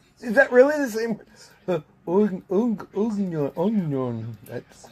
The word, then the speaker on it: oignon: Onion. It's spelled oignon, but pronounced onion.